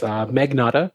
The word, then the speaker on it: Magnotta: It's Magnotta, just like it's spelled.